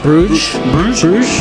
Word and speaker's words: Bruges: Bruges.